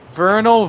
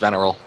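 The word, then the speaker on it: venereal: again the sex flesh Vernal Vinnie suction cup disease dildo by what did I mispronounce the the third word is pronounced veneral I have to get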